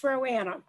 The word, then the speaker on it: Roanna: I'm sure they're going to give me the hook not too soon, but Roanna, am I pronouncing that right? Roanna with HCA Healthcare. Yeah, it's Roanna.